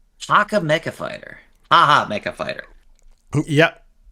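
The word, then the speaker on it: Hacha Mecha Fighter: springish feeling, and that's, I believe it's pronounced Haka Mecha Fighter. Haka Mecha Fighter.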